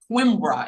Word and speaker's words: Coimbra: Coimbra, am I saying that right?